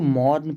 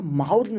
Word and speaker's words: mourn: इसको मौर्न पढ़ते हैं, माउर्न नहीं पढ़ते हैं।